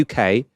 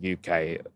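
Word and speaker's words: Yookay: Now the UK um in this sort of concept is spelled Y O O K A Y.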